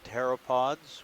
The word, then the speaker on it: pteropods: butterflies uh also called pteropods with a p t the p is silent means wing foot because